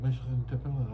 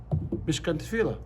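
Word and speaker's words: Mishkan T'filah: yeah, the temple Michigan Tefillah up in Newton, Mass. Again. Michigan Tefillah. Mishkan tefillah. Yeah. Yeah. That's the correct pronunciation.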